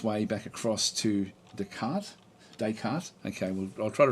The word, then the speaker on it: Descartes: So they were saying it's pronounced Descartes.